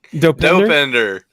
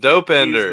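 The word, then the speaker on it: Dopinder: you say his name dopender dopender dopender it sounds like depender like dopender the Dependable one d o p i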